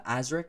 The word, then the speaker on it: Aazriik: have a personality on uh twitch i'm uh azrik so that's with two a's and two eyes it's spelled a-a-z-r-i-i-k the only reason i bring that